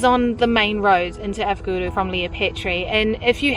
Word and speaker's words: Avgorou: She's really trying with her Greek, but there are still some words she says wrong. It's pronounced Avgorou.